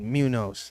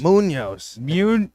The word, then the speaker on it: Munoz: fifth game you say you say it like Ryan Moore did Munos it's not Munos Munoz come on are you serious Munoz m-u-n-o-z is it yeah oh damn maybe you and Ryan were right Munos huh m-u-n-o-z all right